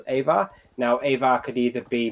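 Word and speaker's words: Eivor: control of a viking called iva or ava is pronounced ava now ava could either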